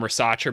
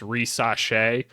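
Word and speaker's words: Risacher: in the comments before I was calling him racea before and I asked like how do you say it and people are saying it's reace something like that but no they're not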